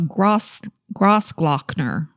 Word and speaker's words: Grossglockner: Took his 33-year-old girlfriend, Kirsten Gertner, on Austria's highest mountain, the Grossglockner. Okay. Spelled like gross, the word gross. Glock. Glock. Ner.